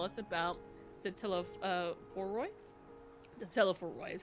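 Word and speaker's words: Telophoroi: The Teleforoi is how you say it.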